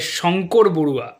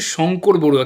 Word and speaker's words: শংকর বরুয়া: একটা ডায়লগ আছে যে শংকর বরুয়া উচ্চারণটা হচ্ছে শংকর বরুয়া কিন্তু হিন্দিতে কিন্তু শংকর বরুয়া না হিন্দিতে শংকর বরুয়া শংকার বারুয়া এরম হবে ঠিক আছে কিন্তু এখানে